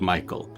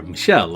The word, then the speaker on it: Michel: Okay, so it is pronounced Michelle, not Michael.